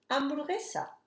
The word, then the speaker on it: hamburguesa: with H, which is hamburguesa. And I'm going to write it here. Hamburguesa. Remember that we don't pronounce the H is a silent word and we don't sound it.